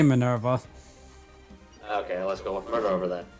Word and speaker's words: Minerva: that distinction belongs to minerva how do you pronounce it uh people just say minerva okay let's go over that a pilot driven